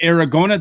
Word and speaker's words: Aragona: and uh aqueduct aragona did i i got that last name pronounced right i hope yep rhymes with arizona not too hard uh